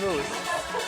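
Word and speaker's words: mousse: moose or something, or mouse. It's moose. No, but wait till you hear. It's spelled like mouse, like double out.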